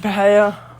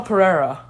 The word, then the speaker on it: Pereira: per me Michelle Michelle Pereira Michelle Pereira is his name why did I keep saying Mel Pera it's Pereira Michelle Pereira one good stuff from Michelle Pereira yeah got the job